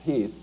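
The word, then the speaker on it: Heth: Lee's intent actually is to kind of let General Heath, it's spelled H Eas, but it's pronounced Heath, to do a little bit of recounting, thinking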